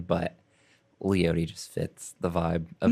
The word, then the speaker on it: Leotie: What the guy from KOSU always pronounces it Leotie, which I mean guess it's a that's kinda cool. traditional Native American name, so that might be the actual pronunciation, but Leotie just fits the vibe